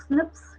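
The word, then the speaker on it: SNPs: और जब आप इसका प्रोनाउंसिएशन करते हैं तो क्या हो जाता है ये, और प्रोनाउंसिएशन में ये स्निप्स हो जाता है।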